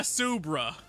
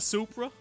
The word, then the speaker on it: Supra: So there I was in my Subra. Uh, sir, first off, it's pronounced a Supra.